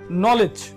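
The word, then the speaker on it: knowledge: লিখে রেখেছি নলেজ দেখুন নলেজ বানান করতে গেলে নলেট এই নলেজের ভিতরে ডি একটা লেটার আছে নলেজেস কিন্তু কেউ বলে না কখনো নলেজ নলেজ মানে হচ্ছে জ্ঞান কিন্তু কেউ কখনো কিন্তু ডির উচ্চারণ করেনি ডি লিখতে হবে আর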